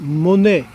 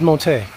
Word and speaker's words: Monet: M-O-N-E-T. Monet. Yes. Claude Montet. Say it like me. Monet. Monet. Oh no, I think it's Cloud Montet. Monet! you need to look it up. It's Claude Monet!